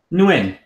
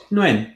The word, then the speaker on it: Nguyen: Nguyen. Nguyen. Yeah, like, the Wynn Casino.